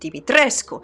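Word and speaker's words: Dimitrescu: Much like not many people do realize that Lady Dimitresco is actually supposed to be pronounced Dimitresco, not Dom Capcom.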